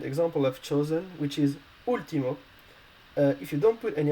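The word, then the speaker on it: último: an accent above uh because if you don't put any accent above the u you you will pronounce ultimo and we don't want to pronounce ultimo or ultima with one in spanish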